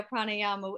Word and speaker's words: Pranayama: year you came out with the video for pranayama is that how you say it yeah pranayama actually drama almost a year ago it was